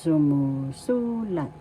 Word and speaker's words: sumusulat: example halimbawa sumulat that is writing present sumusulat first syllab second syllable third syllable fourth syllable the accent is in the third syllable so you pronounce this or because sumusulat sumusulat sumusulat writing the next is future tense.